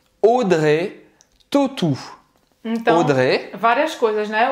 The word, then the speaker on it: Audrey Tautou: Audrey Tautou. Então, Audrey. Várias coisas, né? O AU do nome dela, você vai pronunciar como se fosse um O, certo? Um O com acento circunflexo, eu tô fazendo aqui.